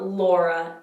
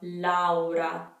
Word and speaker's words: Laura: me know so again it's not laura each vowel is pronounced individually so we have laura laura i'm just going to